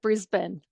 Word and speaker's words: Brisbane: Brisbane, is that correct? You know what? You've got it spot on. Brisbane. All right. I'm working on it. I'm working on my Australian pronunciations.